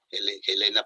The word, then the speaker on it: Elena: el nombre de Elena, y con una E aspirada, como lo pronuncian en Rusia, Elena Blavatsky.